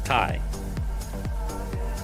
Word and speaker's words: Tai: Ty. It's Ty. That's cute. It's a good name. like Tyler.